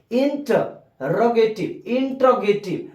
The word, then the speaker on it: interrogative: Interrogative, not interrogative. Interrogative is wrong pronunciation. Interrogative, not intro, no intro. Interrogative.